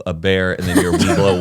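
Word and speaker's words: Webelos: They're called We Blow. No. No. Yeah, No, a Heath, Weeblo. no way. No, it's spelled like WEBLO. But it said like We blow scouts.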